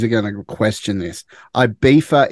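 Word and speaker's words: Ibiza: going to question this I beefa is how it is pronounced I know it's got a zed in it but IA it's IA just so our fellow Aussies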